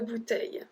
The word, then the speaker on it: bouteilles: For example, une bouteille, deux bouteilles. We only add a S, we don't even pronounce it, so it's une bouteille, deux bouteilles.